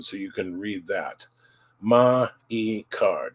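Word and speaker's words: マイカー: Ma-i-ka. Don't say me-ka. Ma-i-ka.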